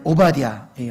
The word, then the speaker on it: 오바댜: 그런 소망의 마음을 품고 오늘 오바댜의 말씀을 통해서 우리가 주님의 음성을 듣기를 원합니다. 자, 먼저 책 제목에 이름이 뭐라고요? 발음이 쉽진 않죠? 오바댜. 그레띠아도 아니고 오바댜.